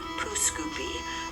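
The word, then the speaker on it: Pouce Coupe: This town sounds like it should be the French pronunciation for cut thumb, but you would be wrong. Most pronounce it as Pooscoopi.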